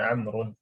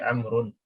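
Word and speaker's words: عمرو: Ya, yang pertama kita harus tahu dulu wawunya ini waw tambahan. Dia nggak dibaca. Makanya bacanya kalau sendirian dengan harakat yang lengkap bukan Amru, tapi Amrun. Tapi apa?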